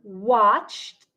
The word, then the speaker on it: watched: The word watched ends with a ch sound, ch. So then the ed sounds like t.